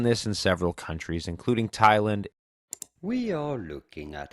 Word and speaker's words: Thailand: How do you go about pronouncing it? Thailand. Thailand. Pretty straightforward once you know.